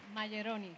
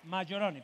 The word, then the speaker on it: Majeroni: A ver, el apellido exactamente, ¿cómo se pronuncia? Maggioroni. Maggioroni, perfecto.